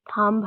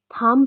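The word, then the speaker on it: thumb: Pass for example एक थंब है. ठीक है. थंब थंब हम लोग नहीं बोलते, हम लोग इसको थंब बोलते हैं. ठीक है. इसमें हमारे पास बी जो है वो साइलेंट होता है.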